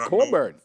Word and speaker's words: Cockburn: It's pronounced Cockburn, you know, but a lot of people say Cockburn, you know, just off ignorance. Oh, it's pronounced Cockburn.